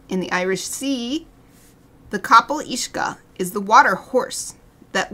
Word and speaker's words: Cabyll-Uisge: this without any help I would call it Cabell which is pretty close I'd say Cabell Wega which is this actually